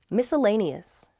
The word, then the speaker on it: miscellaneous: a networking event with my colleagues next week miscellaneous that misc miscellaneous it's just the spelling i